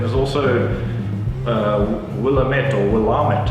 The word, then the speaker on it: Willamette: also will a mentor Willamette as Americans would pronounce it which is it's an